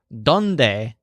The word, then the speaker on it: dónde: uses the word donde he says done-day do you want me to look this word done day sounds kind of like dawn day and what it means